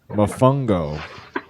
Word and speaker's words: mofongo: up on the computer it is spelled just like it sounds m-o-f-o-n-g-o the dominican mofungo fried i have a